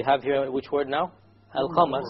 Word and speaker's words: القمر: القمر. So again, we have the moon, the lunar letter, which is the qaf over here. So we pronounce the lam.